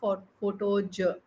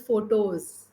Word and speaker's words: photos: It is not photoj. It is photos. There is a slight difference in pronunciation.